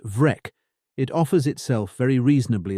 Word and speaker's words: Breac: It is generally rendered spotted or speckled, and in its aspirated form, Breac, pronounced Vrec, it offers itself very reasonably as the father of the modern freckle.